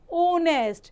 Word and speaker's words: honest: honest, before an R, an honorable man. H यहाँ पर silent होता है, H is silent here.